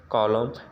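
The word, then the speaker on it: column: जब कभी दोनों साथ में आए तो ही हम यन को ही साइलेंट पढ़ेंगे, यम को। आटम, कॉलम, डैम, हाइम, ठीक है ना।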